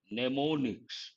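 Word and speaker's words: mnemonics: word for memory techniques neonics the first m is silent neonics means memory techniques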